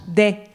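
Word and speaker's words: dèh: Est-ce que quelqu'un sait ce que veut dire, je ne sais pas si je le dis bien, des? C'est ça? Ouais, c'est ça, exactement. Ça s'écrit D-E-H, des.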